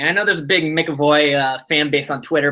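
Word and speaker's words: McEvoy: if you're going to call him mcavoy did i say it wrong yeah so it's tanner mcavoy and and uh i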